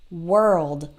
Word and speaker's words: world: of hear heard so don't try to say war or anything like that it doesn't really sound like a no it sounds like a work world if you can say the word were like was and were wer e then it's the same sound work world and I know that the RL in world can be challenging so what I recommend